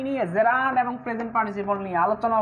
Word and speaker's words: gerund: হচ্ছে এটাকে অনেকে বলে জিরান্ড। হ্যাঁ, অনেকে কি বলে? এটাকে অনেকে বলে জিরান্ড, জিরান্ড এভাবে আমি বাংলা লিখে দিয়েছি, কিন্তু না, এটা সঠিক নয়। এটা সঠিক উচ্চারণ হচ্ছে জেরান্ড।